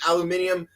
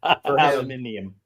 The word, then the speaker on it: aluminium: stuff, the steel and aluminium uh came through to today. Yes, I said it right for you. Is British so we have to say it aluminium.